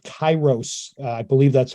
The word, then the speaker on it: Kairos: directions mostly uh her newest book is called Kairos I believe that's how it's pronounced k-a-i-r-o-s that comes out in June and